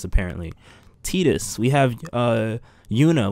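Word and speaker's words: Tidus: from my old past games Final Fantasy 10 teetus that's how you say his name it's not titus apparently teetus we have a you know we have a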